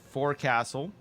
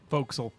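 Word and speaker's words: forecastle: there's supplies there's a for Castle folkal pokel really that's how you say that that is how you say it that's so dumb anyways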